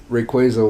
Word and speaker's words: Rayquaza: The official pronunciation is Rayquaza. Because it's like a quasar.